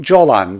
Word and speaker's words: Golan: Arapçada Jolan diye telaffuz edilen Golan tepeleri ile Hatay Suriye haritasında yer almıyor.